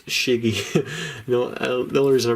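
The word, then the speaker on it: Schiggy: you got the squirtle i believe in german it's shiggy you know the reason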